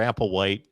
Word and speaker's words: Applewhite: considering uh vince winter is that how you pronounce that in major apple white um brian applewhite brian applewhite major apple white